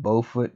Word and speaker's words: Beaufort: It's spelled Beaufort, but trust me, it's Beaufort.